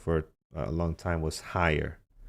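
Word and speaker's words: Haier: Back to school was huge for us, but it's spelled this way, right? Higher.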